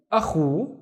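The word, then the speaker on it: أخو: So this is a, and this is khu. This is Khalid surfing. Khu, akhu, and akhu means brother.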